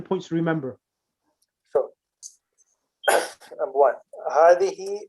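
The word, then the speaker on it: هذه: Hadihi, which is the feminine of hada, it is pronounced hadihi, but the alif is omitted in writing.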